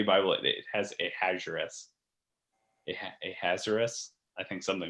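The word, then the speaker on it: Ahasuerus: called him the king i think it's a hazaris but i don't know how to pronounce it it's quite the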